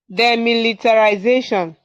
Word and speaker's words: demilitarisation: DEMILICARISATION. Okay. Can you pronounce the word? DEMILITARISATION. Yes, yes, yes. RISA. Okay, SATION. Yes. Can you pronounce the word now? Okay, demilitarization.